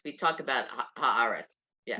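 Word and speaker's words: הארץ: Haaretz and then Eretz Yisrael, for Yeah, example? Because what Eretz is the word, but when you add the in front, it becomes Aretz. We talk about Haaretz.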